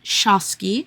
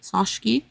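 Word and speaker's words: Sochocky: Sabine Arnold von Shosski Sashki uh Shashki I think is how they say it in the in the audio book and Dr.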